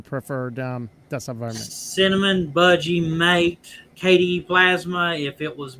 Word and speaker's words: MATE: I'm sorry, Budgie, but you barely lose to Mate and Cinnamon for me.